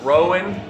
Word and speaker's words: Rowan: The guy that works for Alex Jones, whose name, first name would rhyme with how you would row a boat, Rowan, and then last name is Schroyer.